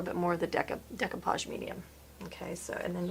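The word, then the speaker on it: découpage: actually asked them and it's spelled funny on the bottle so I've been saying it completely wrong it's just decapage medium if you have anything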